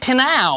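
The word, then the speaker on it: Pnau: Which Sydney electronic duo said that their four-letter name should rhyme with meow? Yes, Ella's team. Meow. It is Pinow.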